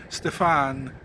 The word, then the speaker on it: Steven: I mean, he was spelled Steven, but pronounced Stefan. Anyway, Stfan, he is an engineer